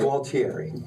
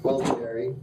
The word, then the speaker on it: Gualtieri: And, who I can never pronounce his last name. Gualtieri. Gualtieri.